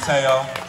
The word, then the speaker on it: Tayo: out and it deserves to be out. I worked hard on it. So yeah, once again, my Instagram is Tayo the Rapper, TEOTHERAPPER. It's Tayo, not T-O, say it right.